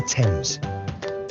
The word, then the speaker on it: Thames: to start with our great river is the thames greenwich leicester square borough one of the best